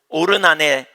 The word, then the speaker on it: 오르난: 나타나신 곳이요, 여부스 사람 오르난의 타작마당에 다윗이 정한 것이에요. 여기 오르난이라는 말은요, 아라우나라는 말을 히브리식으로 발음한 거예요.